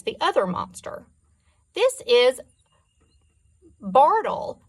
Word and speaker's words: Bartle: says that indicates the other monster this is Bartle pronounced Bartle in your tongue Bardo smiles and act it